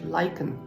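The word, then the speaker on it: lichen: was talking about um lyen now I had thought it was pronounced like many people I think Lin but it's actually lyen and lyen is not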